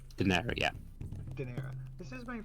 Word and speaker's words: Daenerys: Daenerys, yeah.